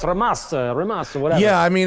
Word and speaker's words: Rimac: Familiar enough to know it's pronounced Ramats. Ramats, he came on and I was like, how do you say this, Rimac? And he's like, oh, it's Ramas or whatever.